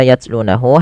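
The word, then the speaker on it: يتلونه: pada lafal membaca yatlunahu hati-hati ini banyak sekali yang terjadi kesalahan yaitu ketika huruf tak sukun ini cara membacanya yang pertama dengan mengetahui dulu sifat daripada huruf ta salah satunya ta itu memiliki sifat namanya apa namanya syidah dan ta juga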